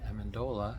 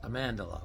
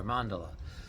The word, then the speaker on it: Amendola: And I felt embarrassed for pronouncing my name incorrectly because in Italian, you actually are supposed to accent the second syllable. So it's Amandola or Amandola.